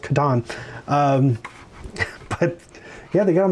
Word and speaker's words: Catan: And it was mostly the Catan people, which is correctly pronounced Catan.